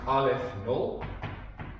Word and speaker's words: Aleph Null: This is pronounced Aleph Null. Okay, it's a Hebrew letter, Aleph.